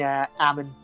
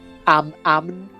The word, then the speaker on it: Amn: It's a funny word to pronounce because you can't really hear the M or the N depending on how you pronounce it. Ammon.